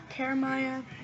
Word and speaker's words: Karimiah: know me, like substitutes, they say my name wrong, and I'm like, it's Karimiah, not Karimia, or blah blah blah.